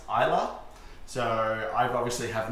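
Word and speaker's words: Islay: region that the optimal came from is actually pronounced ila so I obviously have not been watching by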